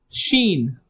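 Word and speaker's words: ش: Uh, the next alphabet is sheen. Sheen. Repeat with me. Sheen. It sounds you can think like she with added N.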